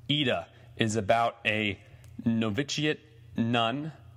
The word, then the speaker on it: Ida: saw the movie AA it's spelled Ida ID but I think it's pronounced AA is about a noviciate